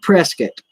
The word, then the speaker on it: Prescott: brave was filmed about they pronounced it different in Arizona Prescott everywhere else in the world they call it Prescott Prescott but in Arizona